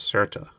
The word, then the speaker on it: SRTA: is GATRA and SRTA I believe it's certa that's the that's how you say it I don't know uh